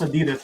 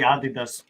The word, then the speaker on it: Adidas: yeah I like well you pronounce Adidas we say Adidas it doesn't matter but yeah I like